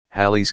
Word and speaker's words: Halley: a telescope the famous Halley's Comet pronounced Halle also called comet Halley orbits the Sun once